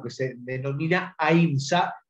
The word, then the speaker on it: ahimsa: o que se denomina ahimsa, o En el sánscrito antiguo se debe pronunciar ahimsa, que significa no dañar,